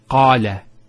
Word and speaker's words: qala: First one here is qala. Notice the elongation of the A sound. Qala. Not qala, qala. So we have the fatha on the qaf, followed by the alif.